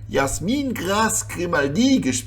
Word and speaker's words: Jazmin-Grace Grimaldi: Let's start with Ivanka Trump = Jazmin-Grace Grimaldi. It's kind of embarrassing that I always pronounce that name in English... it should actually be Jazmin-Grace Grimaldi--- with a bit of a French accent... ...because of Monaco!